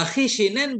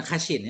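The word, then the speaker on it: خِشِن: Wa khishinen bi kasrataini, khishin kita baca, bukan khashin ya, khishin dengan dua kasrah, kama qalahul Ashmuni, sebagaimana berkatakannya oleh Ashmuni dalam mensyarah ucapannya Ibnu Malik ya.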